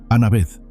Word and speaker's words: Anabeth: ¿Te llamas Ana?, preguntó en un inglés vacilante. Anabeth corrigió ella suavemente. Anna Ved, repitió el niño pronunciando cada sílaba cuidadosamente.